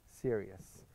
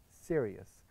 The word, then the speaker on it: Sirius: night sky is called Sirius. So that very serious business you're talking about. Very serious. So it is not the serious, the word serious, you know, it is pronounced differently.